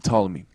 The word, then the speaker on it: Ptolemy: But it's really the Ptolemy, and the P is silent.